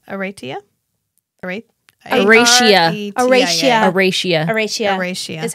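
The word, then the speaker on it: Aretia: Arathia. Arathia? Aratia. Aratia. Aratia. Aratia. Aratia. Is how she pronounces it on the book.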